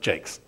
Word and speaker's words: Jacques: of story it's me my last name is pronounced Jakes and I just years ago and I just had been reduced to just Jakes um and even you